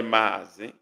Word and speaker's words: Mazi: It's actually Mazi. Okay. Mazi is 1A, but it's pronounced Mazi. It's the A is drawn longer, so it sounds like double A, Mazi.